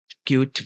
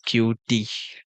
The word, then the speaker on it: Qt: Cute window. Actually, it's cute. But I just always mispronounce it as mispronounce it as QT. I just say Q then T.